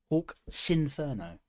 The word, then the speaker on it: Hawk's Inferno: Hawk's Inferno. Got to remember to pronounce it separately. I tend to blur the words together.